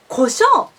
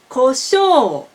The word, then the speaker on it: 胡椒: As I said in other videos, o, u should be pronounced o. So, koshou, koshou. You should make pitch from high to low in one long vowel.